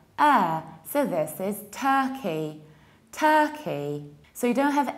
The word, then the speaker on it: Turkey: Whenever you have stressed UR, you pronounce it like So this is Turkey, Turkey.